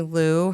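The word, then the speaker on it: Liu: Um, so some books that I personally really like and recommend, um, there are two books by Amy Lou, her last name is spelled li IU, that both talk about her own experience with and recovery from an eating disorder.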